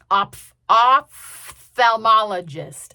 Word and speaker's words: ophthalmologist: And I also, somewhat alarmingly, I learned that I have been pronouncing and spelling ophthalmologist wrong my whole life. Oph- oph- thalmologist. O P H T H A L M O L O G I S T.